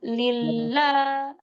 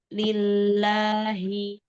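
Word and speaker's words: لِلَّهِ: Dilembutin lagi yuk. Kata lillanya. Jangan lillah. Ah, ini suaranya jadi kayak gitu. Kayak gas ya. Tapi alhamdulillahi. Alhamdulillahiabbil ya. Diulang. Alhamdulillahiabbi. Hmm. Gitu. Coba lagi. Lillahi. Lillahi. Umtah. Segini. Segini aja ya. Jangan lillah gitu.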